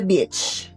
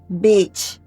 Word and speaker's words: beach: Let's say you wan to say I wan to go to the beach bitch. Bitch bitch. I wan to go to the beach but if you mispronounce onell you say something very different.